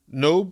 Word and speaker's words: Nob: I always pronounce it knob when I'm reading it, but that's probably wrong. The O sound in French is more of an O than an A.